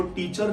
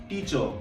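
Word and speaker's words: teacher: सी एच ई आर are last word है इसको टीचर नहीं बोलना है टीचर वो मेरे टीचर है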